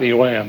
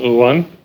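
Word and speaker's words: yuan: only the uh un as i pronounce it's not iwan it's uh it will be legal in china but you know they get rid of bitcoin they're going to have a digital u1 by february it's what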